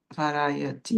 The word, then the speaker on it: variety: é engraçado porque é quase como se eu desse ênfase nesses dois, tanto no vá quanto no rai. No inglês a gente não tem muito disso. É uma sílaba tônica só.